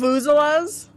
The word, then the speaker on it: vuvuzela: Vuvuzelas?